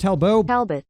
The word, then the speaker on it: Talbot: is talbot grimes or it might be pronounced telbo talbot google told me it was talbot so we're gonna go with that and he was a scottish